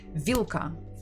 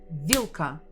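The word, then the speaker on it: вилка: Vada next one is remember that this l l is hard not will so maybe if it's difficult for you try to be angry and say vilka vilka and you'll get the proper pronunciation we stress the first syllables okay actually after this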